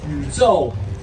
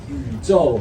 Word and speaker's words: 宇宙: Will you pronounce it for us? 宇宙. Wait, one more time. 宇宙.